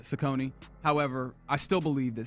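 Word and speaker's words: Cecconi: Uh, our guy Slade, who's on the mound for the Guardians today, apparently his last name is pronounced Sakone. So, it's Sakone.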